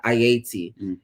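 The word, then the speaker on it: Ayiti: the island was colonized it was uh named ayati and the people uh and that was the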